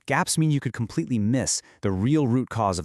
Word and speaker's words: MECE: MII and you pronounce it MI stands for mutually exclusive, collectively exhaustive.